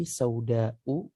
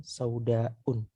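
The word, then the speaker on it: سوداءُ: Jadi bacanya hana'am haqibati sauda'u, bukan saudaun.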